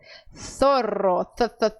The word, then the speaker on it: zorro: o fenômeno linguístico CPO, eles pronunciam o Z com a língua entre os dentes, tá? Então, eles dizem caçador, caçador, zorro, tá? Caçar. É assim que os espanhóis falam.